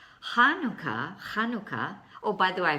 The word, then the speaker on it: Hanukkah: Chanukkah, oh, by the way, I forgot to say, if you don't want to do the Het thing, then just pronounce it with the H sound, Hanukkah.